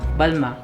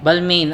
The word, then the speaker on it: Balmain: Designer brand po, Balma. Balma. Ganun ang pronunciation po niya. So, guys, ang spelling niya Balmain. Yes, so, typically Balmain. Balmain ang pagkakabasa mo. Pero Yeah. ang tamang pronunciation po is Balma.